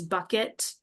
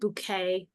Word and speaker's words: Bucket: family so she they're their last name is bucket but she pronounces it bouquet master class in acting